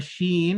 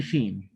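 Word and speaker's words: ش: picture of the right the middle of the tongue is raised up to here or somewhere around here and it's raised too close to the top part of the mouth but it's not it's not touching it it's not touching it but it's very close then when you make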